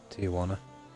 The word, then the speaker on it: Tijuana: Yeah, Tijuana. That's how it's pronounced, isn't it? Tijuana. The J like a W.